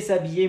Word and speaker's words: s'habiller: Se maquiller, s'habiller, muy bien, son los verbos pronominales, muy bien. Cuidado cuando hay vocal, como s'habiller, H muda, es que poner S apóstrofe.